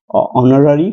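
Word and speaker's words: honorary: অর্জন করে আছে তাহলে এখানে এইচ এর উচ্চারণ যদি হ এর পরিবর্তে ও হিসেবে উচ্চারিত হয় এইটা উচ্চারিত হয় তাহলে এইচ কনসোনেন্ট হলেও তার সামনে এন বসাতে হবে তাহলে হি ইজ হোল্ডিং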